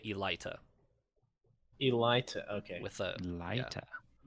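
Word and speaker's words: Eylita: audiobook okay as far as i remember it's elita in the audiobook i could be slightly wrong because i specifically remember writing down my guess as not exactly how i thought it would sound so so in the mario book in the audiobook they say they say elita elite okay with a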